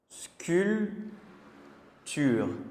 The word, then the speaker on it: sculpture: est-ce que ce que et le P on ne prononce pas dans sculpture la nourriture l'ouverture la ceinture.